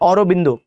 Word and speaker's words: अरविंद: आप देखो अरविंद घोष, अरविंद को हम क्या बोल रहे हैं? औरोबिंदो, प्रोनाउंसिएशन का फर्क है।